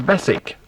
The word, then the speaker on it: Beswick: of a spelling b-e-s-w-i-c-k the true pronunciation is basic but nobody ever remembers that audu bradwell can't hear